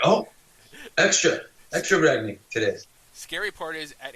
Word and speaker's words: Ragni: Ragni, yeah, you nailed it.